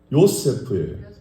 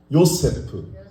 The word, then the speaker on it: 요세프: 이게 히브리 발음은 요세프예요. 요세프.